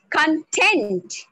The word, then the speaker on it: content: If I put the stress on the last syllable, it becomes content.